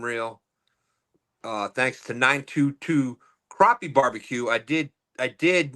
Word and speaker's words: crappie: uh thanks to 922 crappie barbecue I did I did make sure that is the correct way to say it because let's face it who wants to eat a crappy barbecue that's right why would